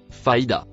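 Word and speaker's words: فإذا: Le mot en rouge se prononce faida.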